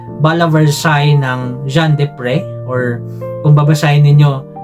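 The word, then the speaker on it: Jean Desprez: sila This is called Bal vers ng Jean depr or kung babasahin ninyo John Des but it is pronounced de PR um this one also uses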